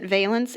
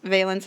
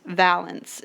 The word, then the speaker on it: valence: last note this valence you've been hearing me pronounce it valence it is pronounced valence and I'm just giving you a little bit